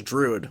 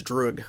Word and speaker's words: Druig: I thought it was Druid, but it's Druig with a G.